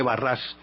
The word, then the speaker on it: Barras: Y luego, cuando desaparece Robespierre, viene otro que es el vizconde de Barras, pues, se escribe Barras, tengo entendido que se pronuncia Barras, y resulta que este